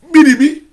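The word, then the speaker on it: Béréby: Quand je vais prononcer Grand Bérébi, là, mais pas Grand, on dit Biribi. Biribi. Ça va t'étonner.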